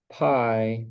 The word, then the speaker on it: pi: Peter Banwarth Carrillo: So the number pi… Peter Banwarth Carrillo: Pronounced like the dessert.